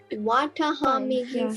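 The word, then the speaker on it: Watahomigi: So Watahamigi formation.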